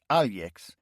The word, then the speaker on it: Alex: One of Villy's best friends was Alex, pronounced Alix.